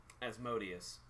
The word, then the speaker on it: Asmodeus: Asmodeus. Yes, Asmodeus. Like, if Jermong was Jermong's talking to great, Asmodeus- great, Hold on.